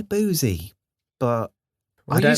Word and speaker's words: Boosey: publishing house boozy and hawks okay and that's pronounced boozy oh see there we go either way graeme